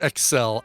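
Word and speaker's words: XEL: so not s-e-x s-e-l don't get excited it's pronounced Excel I don't know that's probably what's going on as it's pronounced Excel so it takes radio exactly one 90s average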